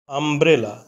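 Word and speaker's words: umbrella: আমব্রেলা আমব্রেলা অর্থ ছাতা আমব্রেলা এখানে ইউ এর উচ্চারণ বাংলা বর্ণ আ এর মত হয়েছে ইউ এর উচ্চারণ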